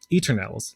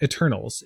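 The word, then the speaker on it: Eternelle's: it's actually just pronounced Eternals, like Eternals. It's a play on the word eternal, but it's Eternals, Elixir of Refreshment, where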